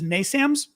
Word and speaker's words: NASAMS: guys have to tell me, how do you pronounce it as NASAMS?